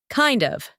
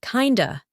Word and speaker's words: kind of: Kind of. Repeat after me. Kind of. Again. Kind of. Americans often pronounce it like kinda in casual speech.